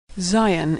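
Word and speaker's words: Zayin: texts for non-natives love Zion is pronounced Z as in zebra Zion Hut is pronounced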